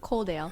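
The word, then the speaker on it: Coledale: Just for this podcast, we're sitting in Colale. Is that how you pronounce it? Coldale. Yeah. Coldale in Wllingong.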